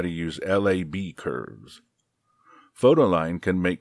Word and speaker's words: Lab: or h s v i pronounce it l a b because it consists of three channels l a and b and we're not talking